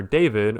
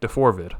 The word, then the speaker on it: D4VD: And so today we are talking about David Burke who's better known as the singer David or depending on how you want to pronounce the spelling deforid.